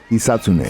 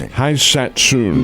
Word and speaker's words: Hisatsune: So his last name is Hisatsune. Hisatsune. Phonetically, I saw it as Haisatsun. No, So the vowels, I don't want to get into it.